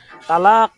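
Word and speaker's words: طلاق: শব্দ আর কি অর্থাৎ তালাক এটা হচ্ছে শুদ্ধ উচ্চারণ এটাকে পরিবর্তন করে চার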